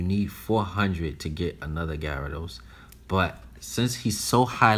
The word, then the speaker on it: Gyarados: go for another guy rados a gyarados excuse me that's how you pronounce a gyarados i was gonna go